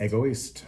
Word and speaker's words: Egoist: This one, how do you pronounce it? Egoist? Egoist.